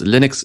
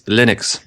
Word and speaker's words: Linux: I am Linus Torvaldis, and I pronounce Linux, Linux.